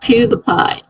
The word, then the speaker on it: PewDiePie: And Greg said it's pronounced PewDiePie, as in apple pie.